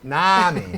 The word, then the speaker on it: NAMI: How do you pronounce it? NAMI? National Alliance of close. Mental Illness Chapter? Close. NAMI. NAMI, not NAMI, NAMI.